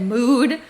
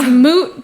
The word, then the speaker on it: moot: what are you talking it's moot point and then I saw mute point and then I was like maybe mute and mot like people say mute and moot the same I don't know so then maybe they're just the same word you're like either way